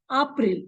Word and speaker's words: April: But we'll pronounce it as April because A is pronounced as A in German.